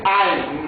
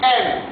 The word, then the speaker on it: aime: Zénab aime, attention ici, Zénab aime, beaucoup les élèves, en arrivant ici, ils disent toujours aime. Non, ça n'existe pas en français. La prononciation aime n'existe jamais en français. Ici on dit aime.